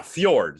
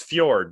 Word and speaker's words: fjord: Yeah, Fjord. See, it's Fjord, not Fjord. I remember.